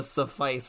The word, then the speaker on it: suffice: I see the suffice rhymes with ice, so very good.